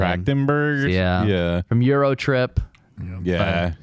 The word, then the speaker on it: Trachtenberg: Trachtenberg.